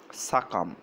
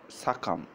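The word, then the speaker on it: succumb: আচ্ছা আরেকটা শব্দ আমরা দেখি যে সাকাম। সাকাম। এখানে কিন্তু বির উচ্চারণ হয় না।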